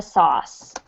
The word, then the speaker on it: sauce: be a challenge is pronouncing the word sauce it is one syllable good so to spoon means you can use a spoon to pour the sauce you can use a